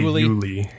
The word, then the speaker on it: Yuliy: So just ignore the Y at the end and just say Yuliy.